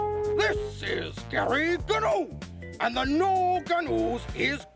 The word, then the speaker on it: Gnu: This is Gary Gnu, and the Gnu Gnus is good Gnus show. Gary Gnu was the breakout icon. A green puppet newscaster with a hard G sound and